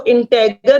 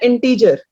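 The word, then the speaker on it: integer: ठीक है, इसको इंटेगर नहीं पढ़ना किसी ने। फाइन। बच्चे बहुत गलतियां करते हैं, गलत प्रोनाउंसिएशन करते हैं, इसकी वजह से किसी को समझ नहीं आता कि आप क्या बोल रहे हो। इसकी प्रोनाउंसिएशन है इंटीजर।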